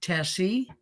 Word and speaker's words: Tesi: We're visiting today with Tesi, rhymes with messy, and I hope everything's okay out there in the viewer land.